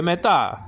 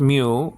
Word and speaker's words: mu: It's spelled out mu, sometimes pronounced mu, and nowadays pronounced me.